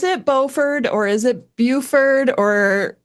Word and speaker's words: Beaufort: I would say Margaret Buffett. Okay. But I mean it is kind of pretending to be a bit French.